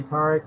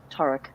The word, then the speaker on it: Tarik: prefer taric um i i just say tariq is is technically way harder to pronounce that so i know it's technically static you know so i don't ask people to say that no no it's like my last name i i tend to default to uh the the longer vowels the that tarek and i apologize i've